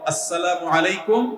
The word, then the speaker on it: আসসালামু আলাইকুম: প্রচলন বাড়াতে আমরা কি করতে পারি শুদ্ধভাবে সালামের উচ্চারণ বাড়ানোর জন্য শুদ্ধ করে সালাম দিতে হবে আসসালামু আলাইকুম ওয়া রাহমাতুল্লাহ কয়দিন পর পর দেখবেন কতগুলা সেকুলার